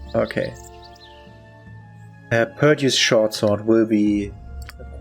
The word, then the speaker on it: Perdue: It's spelled Perdue with an E.